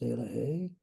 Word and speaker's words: Elohi: Elohi, pronounced Elohe, is a Cherokee Indian word meaning harmony, wholeness, abundance, and peace.